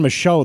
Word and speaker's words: Michaud: So Darren Michaud, though, that is the correct pronunciation.